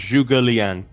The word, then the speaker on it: Zhuge Liang: It's pronounced Zhuge Liang.